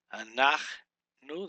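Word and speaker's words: אנחנו: Anachnu. The accent's right here on the Nach.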